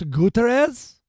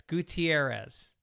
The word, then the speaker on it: Gutierrez: Oh, you mean Andres Gutirez? No, it's Gutierrez. Oh, Gutierrez. Why? Well, it's one of the most common names. It's Latino names. And you butchered it. Oh, just I forgot a vowel.